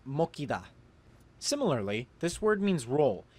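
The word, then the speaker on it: 먹히다: So this word, which means to be eaten, is originally pronounced mokida, but with this rule, the giot will become a kiet, so the verb is pronounced mokida.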